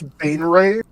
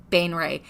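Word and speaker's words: Baenre: house Bane Ray oh I realized I mispronounced it B house ban Ray Bane Ray b a e n r e b NE e b a e a like apple e like edar yeah could you spell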